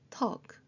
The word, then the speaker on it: talk: Silent L도 있습니다. W talk에서는 L이 소리가 안 납니다. 억제로 L 소리를 내려고 하면 오히려 입모양이 더 이상해집니다. walk talk 그렇게 발음하시면 되고요.